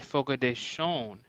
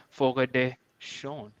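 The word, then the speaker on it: Fogo de Chão: that people who are brazilians they say it focus shone but then when i spoke to uh lead attorney about it he said that's not true that's not true it's just because they have a nasally voice that's what it sounds like folk a day shown instead of fog exactly no then in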